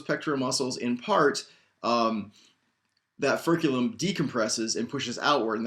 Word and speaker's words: furculum: There are other things like the furculum, F-U-R-C-U-L-U-M. It's much easier to write this on the board, isn't it? F-U-R-C-U-L-U-M, furculum, pretty much spelled like it sounds, which is the wishbone.